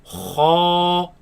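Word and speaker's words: خ: kha, Raise the back of the tongue. Kha, kha, kha. kha. It is incorrect to pronounce this as kha. That is incorrect. It should be heavy.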